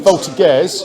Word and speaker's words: voltigeurs: He's got a sneaky unit of voltigeurs.